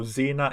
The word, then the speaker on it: Xena: god king xerxes so we pronounce it like the first x and you guys pronounce it like the second x yeah oh interesting who